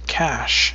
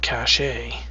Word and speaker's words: cache: for the male inquisitor had not heard of the known cash yet because you've just pronounced it cache do your research when